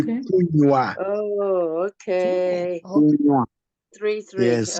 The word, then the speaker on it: kunywa: For me, the pronunciation is just the same like kunwa. Yeah, it should be kunywa.